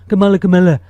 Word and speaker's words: Kamala: Meanwhile, I thought Kamala Harris is, and by the way, stop intentionally mispronouncing her name like you're friggin' 8 years old. Kamala.